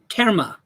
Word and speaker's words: terma: the mind treasures yeah there's there's there's called kerma how do you say that t-e-r-m-a-terma and the